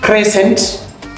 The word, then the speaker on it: crescent: also silent number 6 crescent C is silent.